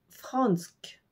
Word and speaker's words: fransk: française donc le français c'est fransk f r a n s K c'est le même son an que pour Dansk fransk par contre les